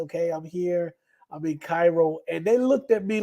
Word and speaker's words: Cairo: It's spelled like Cairo, Georgia, like Cairo, Egypt. It's Cairo, but it's Cairo.